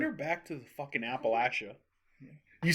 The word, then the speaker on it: Appalachia: I divorced Send her back to the fucking Appalachia. You said it right. One time I said Appalachia, almost ended our marriage. I would say Appalachia. I said Appalachian. I said And she said it's Appalachian. Appalachian.